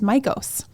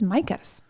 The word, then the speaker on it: Mikos: store and I always thought that it was MOS with an O um o o sound and he pronounces it as micas so I think we all learned something there